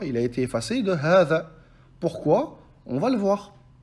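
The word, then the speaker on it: هذا: Comme par exemple, hadha, hadha. Le ha, on l'allonge. Pourtant, il n'y a pas de elif. Donc le elif, il a été effacé de hadha. D'accord? Il a été effacé de hadha.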